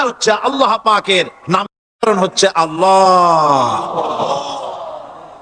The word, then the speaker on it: আল্লাহ: আল্লাহ পাকের নাম হচ্ছে আল্লাহ মুখটা একটু গোল হয়ে যাবে বলেন আল্লাহ আল্লাহ সুবহানাল্লাহ পৃথিবীতে বিভিন্ন